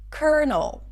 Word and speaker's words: colonel: Colonel.